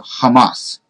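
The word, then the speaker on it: חמס: And Strong's gives the pronunciation of Hamas. So it might be Hamas because of the first letter not being a hey, but it's Hamas or Hamas.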